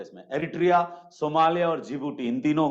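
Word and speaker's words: Djibouti: तो बीच वाला एक देश है जिसका नाम है जिबूटी, डी से स्टार्ट होता है, जिबूटी, डी साइलेंट हो जाता है।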